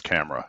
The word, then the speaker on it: Chimera: Did But you then say Chimera? is that what it says? Or can you see it closer? Well, we pronounce that as camera here in the U.S.